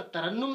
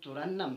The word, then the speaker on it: ترنم: دیا، ہم نے اکثر ترنم سمجھا ہے، لیکن جہاں تک تلفظ کا تعلق ہے، تلفظ کے اعتبار سے یہ لفظ جو ہے یہ ترنم نہیں ہے، یہ ترنم ہے۔ کیا ہے بچے؟